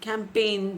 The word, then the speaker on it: campaign: Other examples like pneumonia, psychology, wherein P is silent, island, S is silent, whistle, T is silent, campaign, G is silent, bristle, T is silent.